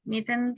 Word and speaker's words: mitten: to to say it mittens and gloves yes okay but in this one let's go back to pronunciation guys don't pronounce letter e that's a tricky it's just and then n Sound Hidden Rotten Mitten